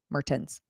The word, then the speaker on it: Mertens: Mertens. Pronounce the T. Mertens.